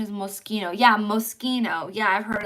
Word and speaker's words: Moschino: Um, Mo the pronunciation is Moschino.